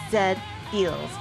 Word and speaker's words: Z-Feel: It's pronounced Zed Feels, like the anime robot, you know?